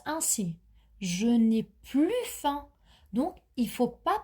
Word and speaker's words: plus: a est plus inspiré donc il faut faire la liaison je dois entendre le son Z plus Z plus inspiré 2 plus 2= 4 et là pour le 3è exemple il faut prononcer le S donc 2 + 2